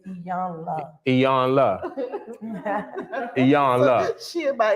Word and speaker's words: Iyanla: we pronouncing her name wrong, so she. Ayana. It's Iyanla.